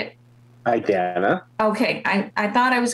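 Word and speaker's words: Idanha: Idana.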